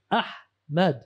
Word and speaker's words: Ahmad: What's this Ahmad? It's not hard, man. But English people, it's Ahmad.